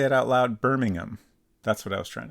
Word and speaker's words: Birmingham: British pronunciations of the same town names EG Birmingham is how I I would say that uh birming birming I I can say it right in my head but when I try to say it out loud Birmingham that's what I was trying to say Birmingham